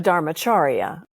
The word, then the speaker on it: Dharmacharya: It's a Dharma teacher, a Dharmacharya is how you say it.